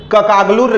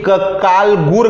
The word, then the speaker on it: ककालगुर: देखिए इसको थोड़ा ध्यान दीजिएगा, पिछले बार मैंने इसे ककागलुर ग्राम बता दिया था, ककागलुर नहीं, ये ककालगुर ग्राम है, ठीक।